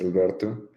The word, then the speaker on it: Alberto: My name is Alberto, by the way, Alberto. You can pronounce it as Albert if you want, no problem.